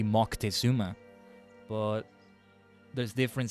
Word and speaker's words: Moctezuma: I mean, you could technically say Montezuma is wrong because it's supposed to be Moctezuma.